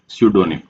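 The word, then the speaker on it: pseudonym: name next word है सडोनिम अब यहां पे फ्रेंड्स पी होता है वो साइलेंट होता है प्रोनाउंसिएशन में नहीं आता है तो क्या बोलेंगे इसको सडोनीम इसका मीनिंग क्या होता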